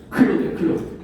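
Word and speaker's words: Claude: 아니 클로드. 이거는 읽을 때 우리의 프랑스 클로드 모네처럼 클로드라고 읽으시면 돼요.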